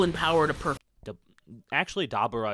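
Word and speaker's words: Dabura: We know that Dabber is equal in power to per actually Dabber is probably the correct pronunciation because it's Abracadabra.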